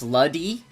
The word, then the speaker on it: Lude: You might be wrong, but I'm pretty sure Lude's name is pronounced Luddy in GT. Luddy.